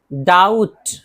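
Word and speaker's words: doubt: कॉम कॉम कंघी कंघी Baum बम ब माना बम थम थम देखिए बी साइलेंट है अंगूठा डाउट अब इसी तरह बताया था कि टी से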